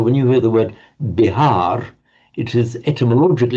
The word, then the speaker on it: Bihar: And we know the name of the state of modern India, Bihar state.